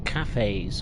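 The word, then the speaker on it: Cathays: It's called cafes or caf cafes. Cafes, that's how you say it.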